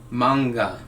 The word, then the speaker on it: manga: talking about manga and yes that's how you pronounce it manga and it's spelled ma n GA and it